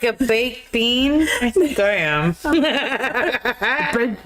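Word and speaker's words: Biehn: Bine is amazing Terminator like a bean homie that how we say his name bean bean built like a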